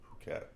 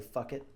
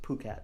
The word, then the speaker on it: Phuket: Phuket. It's spelled PH, so Americans say fuck it.